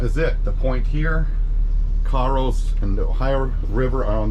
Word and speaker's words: Cairo: here that goes to Caro which is spelled like Cairo but they pronounced Caro around here so just make a